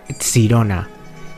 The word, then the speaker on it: Sirona: que se llamaba sirona en realidad se pronuncia sirona y etimológicamente ente tiene